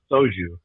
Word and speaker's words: soju: It's called soju. It's spelled SOJU.